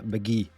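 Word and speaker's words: Mk.gee: heard an album by a guy called, uh, McGee. Um, it's spelled MK.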